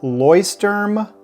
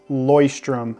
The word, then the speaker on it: Leuchtturm: out that it means Lighthouse so the different pronunciations that I found for this notebook is lerm lerm lorm but I found a video where a employee of the company refers to it as lyom and that's the way I like to pronounce